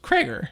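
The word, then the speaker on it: Cregger: is pre-wish correct but his name is Kroger yeah like almost like Kruger that's funny Freddy Krueger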